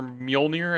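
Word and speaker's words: Mjölnir: Thor caught off guard, hesitated for a moment before charging towards Thanos with his hammer Mjolnir. Is that how you pronounce it? Mjolnir, you got it.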